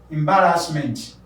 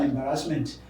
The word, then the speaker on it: embarrassment: Embarrassment. I'm aware too that people say embarrassment. What an embarrassment. It's not embarrassment, rather it's embarrassment.